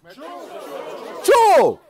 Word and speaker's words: cha: OK, "cha va min cha te" "Cho"? There's no "o"! It's "c-h-a" but you pronounce it "cho"!?